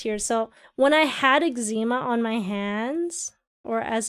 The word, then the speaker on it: eczema: No one says the C. Eczema. That's weird. It's too much extra work. X comes out as egg sounding.